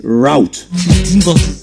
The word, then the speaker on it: route: They actually sound the same. They are supposed to be pronounced the same way.